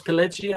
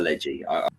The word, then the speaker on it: Pileggi: Nicholas Pileggi, I think is pronounced. That's it, Pileggi.